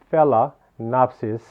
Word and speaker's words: Phalaenopsis: name of the orchid it's called the fella fella napsis okay so fail for